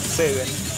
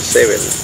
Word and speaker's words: S7N: una una banda que se llama Seven pero se escribe distinto que es una banda de México también puedan ver verlo en este canal lo pueden ver eh se escribe s7n Ah mira Seven una banda de México